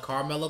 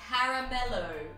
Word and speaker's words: Caramello: Up next, also from Cadbury, we have a Carmelo Koala. In Australia, it's pronounced Caramello Koala.